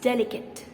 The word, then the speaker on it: delicate: it called delicate no the last e in the word is silent it's delicate delicate delicate say it